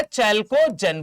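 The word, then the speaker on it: chalcogen: बोला जाता है चैलेंज क्या बोला जाता है चेल्को जैन बोला जाता है है ना और हैलोजन फैमिली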